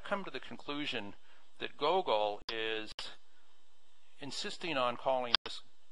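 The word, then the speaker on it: googol: Anyway, it's the name, made up name for that number is Gogol, G-O-G-O-O-L, pronounced Gogol.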